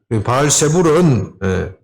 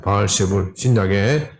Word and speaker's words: 바알세불: 바알 세부라는 것이 바알 세불은 헬라식 발음입니다. 바알 세불.